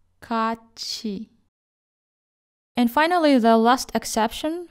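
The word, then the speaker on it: 같이: When followed by the syllable e, read them as chi, ka chi.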